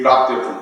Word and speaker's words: प्राप्त्यर्थम: एक प्राप्त्यर्थम 3 अक्षर है, उसमें म की ध्वनि आएगी, बाकी सब में ग की ध्वनि आएगी। सिद्धिम प्राप्त्यर्थम ओम, इसमें तो म, बाकी ऐं ह्रीं श्रीं।